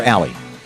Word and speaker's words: Ally: Is it Ally or Alley? It's Alley.